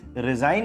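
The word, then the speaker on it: resign: अब दूसरा वर्ड देखो रिजाइन। रिजाइन में भी जी का यूज़ आप नहीं करते हो। लेकिन रेजिग्नेशन बोलने में जी का यूज़ आ जाता है।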